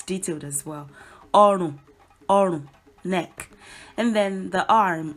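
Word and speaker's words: ọrùn: Orun is neck. Orun. Orun. It's made up of two syllables. Orun. Re, do. That's the tonal mark.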